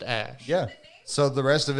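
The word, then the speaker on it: Æ: But they didn't say how to actually pronounce it because he said the AE is pronounced Ash.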